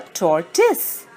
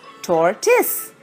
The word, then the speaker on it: tortoise: It's called a tortoise. The right pronunciation is tortoise. Tortoise.